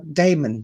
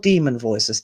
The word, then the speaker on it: daemon: his dark materials and damon damon voices not demon voices demon voices spelled with a d-a-e-m-o-n and it is supposed to be the greek meaning but any english speaker that hears that any german speaker who hears that will think immediately demon voices and they will